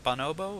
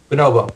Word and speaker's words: bonobo: a thrower and am I saying it right bonobo or bonobo bonobo okay yeah yeah you had it right all